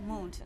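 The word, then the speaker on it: Muntu: That's the proper pronunciation. Yes, Montu, yes. For those who may know, it's Montu.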